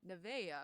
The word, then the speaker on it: Nevaeh: told me it's Nevaeh because it's a heaven backwards.